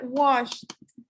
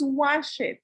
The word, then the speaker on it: washed: Es muy importante porque no decimos wash it. Él pronuncia primero esta y después esta. Y no nos están diciendo wash it. Están diciendo wash, wash, right? This one. Y después dice washed, washed, cold.